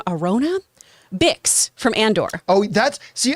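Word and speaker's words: Arjona: Someone who I'd add to the mix, Adria, I think you pronounce her last name, Arona?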